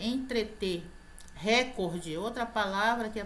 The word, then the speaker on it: entreter: vai entretê-la a muita gente fala intertemas na interter entreter recorde outra palavra que a pronúncia é recorde na palavra não é e